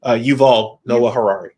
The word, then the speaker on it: Yuval Noah Harari: Yuval Noah Harari.